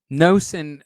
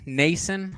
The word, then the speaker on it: Nason: Nosen, I'm a big fan of Nosen. We used him last year a couple times. Nason, I think is actually how you pronounce it.